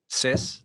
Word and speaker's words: Sis: Sis, like sister, Naughty.